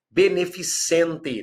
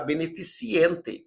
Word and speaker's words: beneficente: Beneficente, não podemos falar beneficiente, porque haverá um vício chamado cacoepia ou cacoépia, né, na matéria que é estudado, esse vício é estudado na matéria ortoepia ou ortoépia.